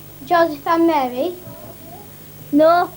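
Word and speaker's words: José: joanne and his brother jersey i think you'll find it's pronounced juan and jose spanish pronounced other jays like hatred anyway what months did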